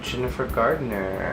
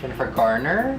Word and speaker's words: Jennifer Garner: is pancho and today i am joined by jennifer gardner i haven't said her name before jennifer gardner